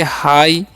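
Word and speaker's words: high: okay उसी तरीके से इसे हम पढ़ेंगे हाई यहां पर भी जी साइलेंट होगा यहां पर भी नाइट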